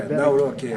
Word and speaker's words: Nawrocki: Nawrocki.